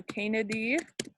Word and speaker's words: Canidae: Anytime you see an AE in science, it's pronounced like E. So Canidae.